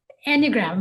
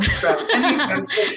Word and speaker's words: Enneagram: Um, and I'm really glad that you walk us through these different types of um, is it an Enneagram? I don't know how to pronounce it. Enneagram. Enneagram.